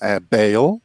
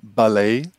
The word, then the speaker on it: Bale: a ser de um galês Então são duas pronúncias um para mim uma bale o sobrenome da Lei ou baley como dizem os norte-americanos nossos nossos primos falando